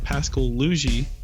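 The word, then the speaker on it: Pascal Laugier: One of the facts I have is Pascal Luigi, which is how you pronounce it.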